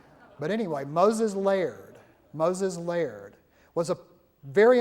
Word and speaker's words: Lard: this is a Moses layer that looks like lard I know but the family that continues to live in Nashville says know that we're Scottish it's pronounced layered okay it's kind of like the woman on